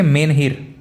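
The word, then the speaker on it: menhir: था प्रश्न में इसका इस शब्द का प्रोनाउंस है कुछ इस तरीके से मेन हीर मेन हीर क्या चीज है यह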